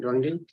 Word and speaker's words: Douangdy: Sorry if I messed up that pronunciation. Good afternoon. Hello, good afternoon. My name is Dongdi.